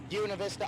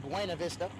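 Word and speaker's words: Buena Vista: I bring up Jim Ober, North Una Vista, Iowa. I got yelled at for saying Buenav Vista. That's how it's spelled.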